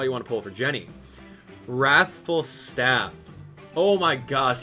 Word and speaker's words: Genny: Hey, Abdallah, it's pronounced Genny.